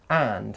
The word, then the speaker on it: and: chips fish and chips and is not usually an important word it's a basic conjunction and it's frequently unstressed when this happens the duh at the end of the word disappears before both vowels and consonants and the vowel sound at the beginning of the word changes to schwa uh so and becomes an or even um as the sounds are almost identical here are some more